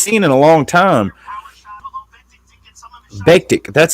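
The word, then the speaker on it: Bektić: Bektik, that's how you pronounce it. Bektik.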